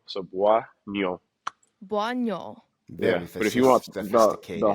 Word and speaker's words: Bouagnon: It's Buo. So, you kind of want to pronounce it BWA and then like the end of like so. So, buoy, but if you want